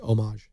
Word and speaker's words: homage: After all that, you said homage 3 times. It's just homage. You don't pronounce the.